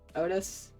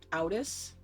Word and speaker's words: Outis: I watched a video and someone kept pronouncing Otis's name Outis. I will forever just say Otis. Because I like to imagine it's like the cow from back in the barnyard.